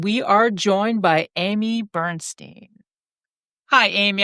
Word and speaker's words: Bernstein: Tonight we are joined by Amy Bernstein. Hi Amy, I sure hope I pronounced your last name correct. You got it. Got it right.